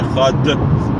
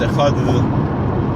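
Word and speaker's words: אחד: There is no dot in the Dalet, so it's not Echad. It's Echad, and you're really supposed to extend the Dalet.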